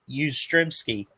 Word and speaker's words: Yastrzemski: Oh, thank you for the pronunciation. Yeah, I'm always messing his name up. Yastrzemski.